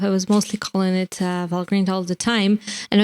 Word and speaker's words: Valgrind: i said it right so it is valgrind and not val grind as many people do say so you heard it